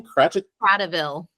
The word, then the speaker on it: Kratochvil: Kratochvil.